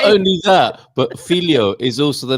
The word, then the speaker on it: filhó: Well, not only that, but filho is also the name of a cake as well. Filho. That is Filho. filho, All right. Carl, with an accent on the O.